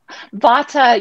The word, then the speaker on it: Vata: ayurveda test and found out I'm bottom 50 bada did I pronounce it right Vata yeah I mean I'm sure there's different ways